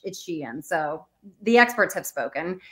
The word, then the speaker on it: Shein: We learned how to pronounce Shein. I think we did. You know, Cramer and Jassy confirmed it's Shein.